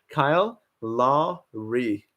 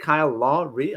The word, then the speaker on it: Kyle Lowry: Kyle Lowry. Is it Kyle Lowry? I pronounce it Kyle Lowry.